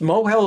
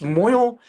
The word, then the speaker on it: mohel: And then it's pronounced tovel, it's not pronounced toivel, and it's pronounced mohel, it's not pronounced moil, and they're the only ones who know anything, not the yeshiva high school graduates.